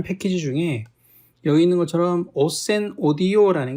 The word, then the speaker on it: ocenaudio: 중에 여기 있는 것처럼 오센 오디오라는 게 있습니다. 이거는 뭐 오첸이라고도 하고 오켄이라고도 하고 이렇게 쓸 때는 이제 발음을 여러 가지로 하지만 이 프로그램 읽을 때는 이제 오센 오디오라고 이제 보통 읽게 되는데, 여기 이 프로그램이 하나가 있어요.